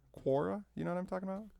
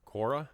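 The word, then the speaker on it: Quora: what's a core Cora how do you say that website will you ask questions Cora qu o RA Cora yeah it always pops up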